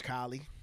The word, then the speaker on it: Kahlee: me on assignment yeah i'm sorry my name's kylie you know what i'm saying do everybody ever always mispronounce it uh do everybody mispronounce it yeah